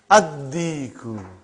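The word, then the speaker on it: الديك: How will you pronounce it? Ad-Diku. Why you did not pronounce Lam? Because it is sun letter.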